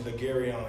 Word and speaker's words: Le'Garon: my artist name is Legarion. It's spelled like Legarion, Legaron.